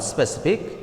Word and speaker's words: specific: In the word specific, it has 3 syllables. They are se, sip, ik. So, as this word ends with IC, therefore, the stress will fall on the second to the last syllable. Here, sip is the second to the last syllable. So, the stress will fall on sip.